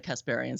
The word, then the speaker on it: Kasparian: something because P random no it's not Ana Kasparian sorry here okay although she's also an Anna